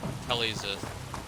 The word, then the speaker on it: Talixith: Telzith. Telizith. That's how you say her name.